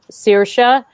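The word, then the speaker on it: Saoirse: girl whose name is her name is sirsha and it totally doesn't look like that it's you know it looks like say or ca and she has this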